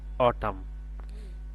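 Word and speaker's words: autumn: এখানে এন এর উচ্চারণ না আসে, এখানে হবে অটাম। এখানে এন এর উচ্চারণ না আসে, এখানে হবে ডাম।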